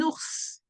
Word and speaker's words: ours: Un ours. What is quite specific with ours is like for once we are pronouncing the S at the end of the word.